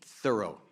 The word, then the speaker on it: Thoreau: man named Henry David Thoreau, and that is the correct pronunciation, by the way, he pronounced it Thoreau, who was considered to